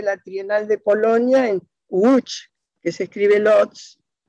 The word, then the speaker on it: Łódź: La primera letra es como la que usaba el apellido del Papa Wojtyla. Se dice Wojtyla, ¿no? Wojtyła, porque la L con dos rayitas o una rayita cortada se pronuncia gua.